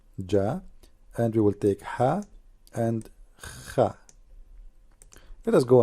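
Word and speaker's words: ح: Ha. Now, how to pronounce letter Ha? Imagine yourself, you are getting cold and you are saying it's cold. That's Ha. Very simple.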